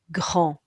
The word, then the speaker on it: grand: We've got a silent D. The AN is making the hand on the horn sound on. Don't forget the sound for the R. So that's g, on, grand.